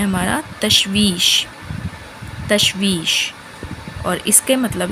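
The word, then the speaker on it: تشویش: Third word है हमारा तशवीश।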